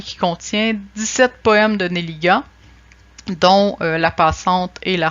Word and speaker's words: Nelligan: Son père est irlandais, ce qui fait qu'en réalité, on devrait prononcer son nom à l'anglaise, son nom de famille, Nelligan. Or, le jeune Émile va choisir de franciser son nom puisque sa préférence allait à sa mère, canadienne-française d'origine gaspésienne.